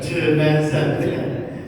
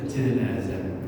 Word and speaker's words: jenazah: Jenazah itu ilat lidahnya orang Indonesia ya, lidahnya orang Indonesia. Jenazah. Bahasa Arab kan nggak ada nggak ada ya, di Malang gitu. Nah, jadi kalau dalam bahasa Arab justru dibacanya janazah atau jinazah. Ya paling enak itu kita pakai yang janazah. Bikin jenazah ya.